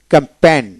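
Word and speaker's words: campaign: তারপর ফ্রেন ফেন এফই আই এন ফেন ফেন ক্যাম্পেন ক্যাম্পেন সি এম ক্যামপি এ আই এন ক্যামপেন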